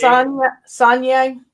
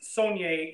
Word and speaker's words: Saulnier: So it's pronounced Saunier. The L is silent. It's Saulnier, but it's Saunier, and it's French for it has to do with salt. So if you were way